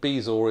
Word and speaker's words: bezoar: of the day is bees or a couple of different pronunciations but as far as I can see bees or is the one to go for and it comes to